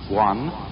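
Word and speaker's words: 觀: which was represented by that Chinese character which I drew at the beginning, pronounced guan, or quiet observation.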